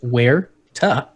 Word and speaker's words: Huerta: Well, don't pronounce the H. Just Huerta.